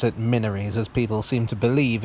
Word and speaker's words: Minories: gate which i pronounced minories commenters were quick to point out that it's actually pronounced minaries you know like mina or minority many were outraged that